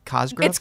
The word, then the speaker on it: Cosgrove: I say it wrong, even though I love her, but it's Cosgrove. It's Cosgrove. It should be Cosgrove. But we hang out all